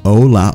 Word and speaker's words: hola: Remember, it's not hola or hola, it is hola.